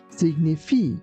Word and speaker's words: signify: Here be careful not to pronounce this word like signify. It's signify.